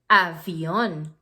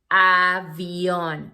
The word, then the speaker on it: avión: Avión. Avión. It has an accent on O, so you have to make the emphasis in on. Avión.